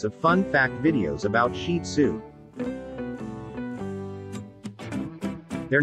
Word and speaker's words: Shih Tzu: The Shih Tzu, pronounced Shih Tzu, is one of the most popular dog breeds in the United States.